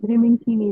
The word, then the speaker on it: Rimin Kimi: But Rimin Kimi is how it's pronounced.